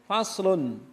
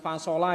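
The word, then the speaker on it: فصل: Faslun. Faslun, bacanya faslun, bukan fasola ya, bukan fasoli juga.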